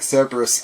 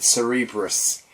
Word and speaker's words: Cerberus: It's kind of like Cerberus. I pronounce it Cerebrus in The Punisher, so...